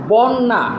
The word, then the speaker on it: বন্যা: বন্যা, নটা আছে শেষে, তার সাথে জফলা আছে, হয়েছে কি বন্য, বন্য।